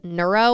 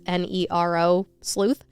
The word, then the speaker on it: nero sleuth: sleuths with the username I think it's pronounced neuro or Nero sleuth it's n-e-r-o sleuth and I would say Nero sleuth okay neuro would be any URL yeah you're right so